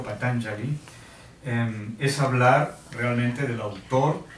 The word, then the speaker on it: Patañjali: Bien, hablar de Patanjali, como deberíamos pronunciarlo, Patanjali, es hablar realmente del autor de este texto fundamental que son los Yoga Sutras o los aforismos del yoga.